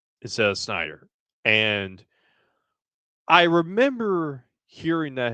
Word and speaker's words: Snyder: I pronounced his last name as Sydney instead of Snyder.